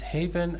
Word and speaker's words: haven: Okay, it's not heaven. It is haven, and it means sanctuary, shelter, place of safety.